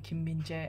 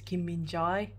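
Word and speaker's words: Kim Min-jae: is e um so for Kim minje it's not Kim binjai it's Kim minje um and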